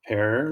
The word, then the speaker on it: Per: Per was the first? Père. Yeah, that's like Pierre in French, but it's Père, like Peter, actually.